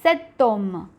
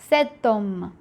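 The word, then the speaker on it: cet homme: And remember, this is pronounced as setom. Okay, setom. The next word, garçon, example of a masculine singular.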